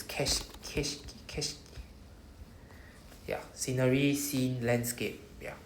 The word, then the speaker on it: 景色: Keshiki, not ke. There's no kei. So see, even the word here, there's no I after ke. So it's keshiki. Keshiki. So no I here. Please do not pronounce with an I. It's not keishiki. There's no E.